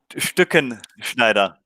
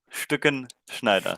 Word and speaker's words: Stückenschneider: It's a really hard name for us to pronounce. So how do we do it? Okay. Stückenschneider. Stückenschneider.